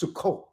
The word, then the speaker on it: Sukkot: in an s in english right so it's pronounced sukkot it's a code right so that's what the